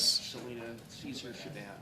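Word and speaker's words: Celina Caesar-Chavannes: Let's take a look at MP, I'm going to probably mispronounce her name. Is it Selena Chavez? Selena Caesar Chavez.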